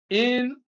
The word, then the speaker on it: inadmissible: Inadmissible. After the prefix, stress is placed on the next syllable.